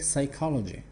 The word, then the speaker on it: psychology: И вот это P, которое есть на письме, оно никак не произносится, его там нету. Читается как psychology.